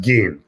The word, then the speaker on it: Gein: It's pronounced Gein. Gein. Gein. Yeah, apparently his father was, his background was Scottish. Okay. And apparently the family name was originally McGean, which is why, it's pronounced like E-E-N.